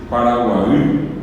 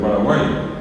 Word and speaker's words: Paraguay: mismo de nuestro país que es Paraguay bien pronunciado y la versión ya eh hispana castellana de aquel que hablando Castellano no pudo decir Paraguay le salió Paraguay verdad eh Y eso